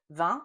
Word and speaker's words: vin: But if you don't hear the difference between vent, which is wind, vont, which is go, and vin, which is wine, and if you can't pronounce those correctly, you're probably having a hard